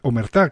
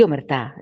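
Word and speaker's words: omertà: Si te parece, comenzamos con Claro, Omertá, que parece que sí. se lleva el acento en la última, ¿no? Sí, omertá, sí, hace referencia pues a la mafia, a la camorra, ¿no?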